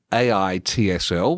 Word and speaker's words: AITSL: Before we get started, let's just break down the role of AITSL, which is pronounced aitsl.